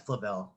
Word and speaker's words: Flavel: Yeah, I think Amy Smith said Flavel because she's from Australia, so there's a bit of an accent. Okay. But yeah, it's Flavel. That's the proper way to say it.